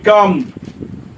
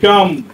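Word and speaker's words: calm: সি এ এল এম আমরা এলে উচ্চারণ করবো না কি বলবো হি শুড বি কাম ঠিক আছে এটা উচ্চারণ হয় না হি শুড বি কাম তাহলে এইখানে দেখো এটা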